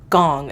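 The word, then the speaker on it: Goong: is uh not in chinatown surprisingly but it's gong it's spelled g-o-o-n-g and it's on if you guys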